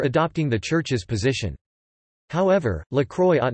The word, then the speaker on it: La Croix: La Croix, French pronunciation, La Croix, English, The Cross, is a daily French general interest Roman Catholic newspaper.